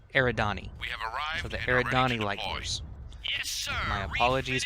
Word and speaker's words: Eridani: the Light Horse guys I totally mispronounced the stupid thing it's Eridani so the Eridani liked